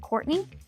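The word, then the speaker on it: Courtenay: Island is off Courtney it's spelled couron but everyone calls it Courtney it's where all the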